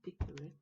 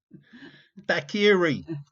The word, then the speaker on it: daiquiri: Dave's taking the mick out of your pronunciation and saying, did say dickery? Daiquiri, Gov. Daiquiri, not a dickery.